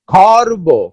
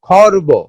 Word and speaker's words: খর্ব: প্রমিত বাংলা উচ্চারণে রেফের হলন্ত বা খণ্ডিত উচ্চারণ হয়। হলন্ত এবং খণ্ডিত, হ যুক্ত এরকম খণ্ডিত উচ্চারণ হয়। যেমন খর্ব, খর্ব, খর্ব। তর্ক, শর্ত। র কিন্তু একবারে পুরোপুরি উচ্চারণ হচ্ছে না, এটা একটা খর্বিত বা আংশিক উচ্চারণ হচ্ছে, যে হলন্ত যুক্ত হয়েছে।